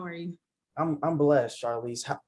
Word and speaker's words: Charlese: are you i'm blessed charlize am i pronouncing that right charlize yeah you're pronouncing my name right um yeah thanks for